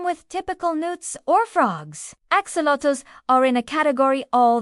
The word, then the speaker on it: axolotl: Let's explore everything you never knew you wanted to know about axolotls, pronounced axolotls, are amphibians native to a single system of lakes and canals in Mexico.